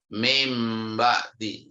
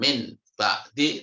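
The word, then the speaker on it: مِن بَعْدِ: Mim ba'di ya, bukan min ba'di tapi mim ba'di.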